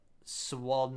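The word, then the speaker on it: Sławno: Then swarn is slo s l a w then n o.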